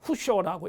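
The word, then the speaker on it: 普照: 그 스님 중에 한 분이 우리 보조국사 진울 스님이라고 할 때 보조라는 스님, 후쇼라고 읽습니다. 일본어로 후쇼라는 스님하고 영예라는 스님인데 요에이라는 스님이 후쇼하고 요에이라는 두 젊은 학생들이 파견이 돼요.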